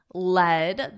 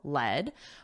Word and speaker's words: led: but yesterday my colleague led the past simple of the verb lead is pronounced like the metal LED but yesterday my colleague